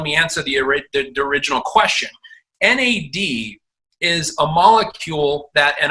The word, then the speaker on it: NAD: And by the way, it's not pronounced NAD. It is NAD. It's an acronym, and for nicotinamide adenine tridinucleotide. So it's an acronym, NAD.